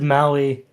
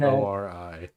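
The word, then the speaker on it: Māori: Maybe I'm saying the name wrong because I said Maui. Maori. No, I think. Yeah. Yeah, because I yeah, think no. Maui, which is in Hawaii. It's Maori. From New Zealand.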